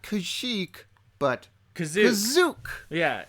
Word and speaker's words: Kashyyyk: Tell your nerd friends next time they bring up Kashyyyk, as they do, Yeah. from that time it's to time. technically it's Kazook. You know, in the I 1978 think you holiday mean special, Kazook. they pronounce Kazook, which is the first appearance of.